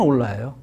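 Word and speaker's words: hola: 헬로에 해당하는 오라입니다 무조건 올라요 뭐 시대도 없이 올라면 뭐 100% 맞습니다 근데 요거 스페인어에서는이 h 발음이 안 된다는 거를 아시겠죠 어 한번 따라해 볼까요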